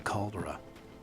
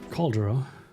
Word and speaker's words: caldera: Caldera? I think that's... I mean, it's the same word in German because it's probably Latin. But the emphasis is on the second syllable, I think.